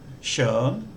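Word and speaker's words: schön: speaker if we take the German word for beautiful shern uh my my German pronunciation won't be very good but that sound is actually an uh sound and the vowel that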